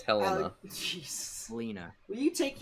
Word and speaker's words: Helena: No, it's Helena. Jeez. Helena. Will you take your Helena.